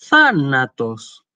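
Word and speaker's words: θάνατος: manera que yo decía thanatos, thanatos. Incluso la primera alfa, la alfa que está acentuada, tiene como el tono elevado, como si uno estuviera en esa sílaba solamente haciendo una pregunta, ¿sí?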